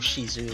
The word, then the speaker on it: CZ: Though of the maids, CZ or Shizu, I think it's pronounced. Yeah.